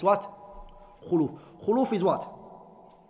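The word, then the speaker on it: خلوف: alaihi wasallam said, "Wala khuluf." Allah said, "Wala khulufu." Some people read it as what? "Wala khaluf." They read it as a fatha on the khaf, and that's an incorrect pronunciation of it.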